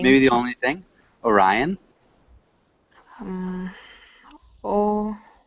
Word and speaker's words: Orion: Good pronunciation. Thank Maybe the you. only thing? Orion? Oh, Orion.